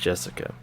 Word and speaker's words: Jessica: same kind of weird name anyway this is pronounced Jessica she's dad's older brother's daughter that older brother